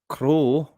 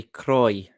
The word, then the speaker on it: Croix: Now, when it comes to the French pronunciation of Croix, some people say crow or craw, while others say croy, like the guy in the video would say, Rose Croy.